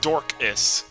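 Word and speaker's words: Dorcas: fine hey Mobius yep it's dorkus definitely how you say it um I mean I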